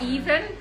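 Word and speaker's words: Aoibhinn: It's Ethan. Okay. It doesn't look like even. No, I know. It means lovely in Irish.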